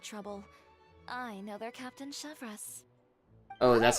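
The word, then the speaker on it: Chevreuse: to all that trouble I know they're captain chevas Oh that's how it's pronounced wait how do you the captain of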